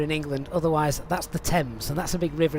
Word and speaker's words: Thames: it thames here in england otherwise that's the thames and that's a big river in london how that's spelled um yeah so i'm not gonna find